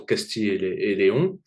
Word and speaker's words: Castille-et-León: dernier le 13 au Castillet et Léon je le prononce à la française et peux-tu nous donner